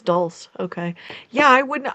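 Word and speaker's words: dulse: Rhymes with pulse. Yeah. So, it's dul.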